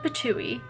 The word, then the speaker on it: pitohui: probably the hooded patui the hooded patui and yes that's how it's pronounced is a species of